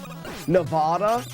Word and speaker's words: Nevada: What's the other way of pronouncing it? Nevada?